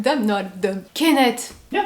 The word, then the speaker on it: Kenneth: K-E-N-N-E-T-H. Kenneth. Kenneth. Kenneth. Kenneth. Yeah. Kenneth. Kenneth. Kenneth. You have to push more air. The. The. Kenneth. Kenneth. Yeah, Kenneth. What? I look dumb? No, I look dumb. Kenneth.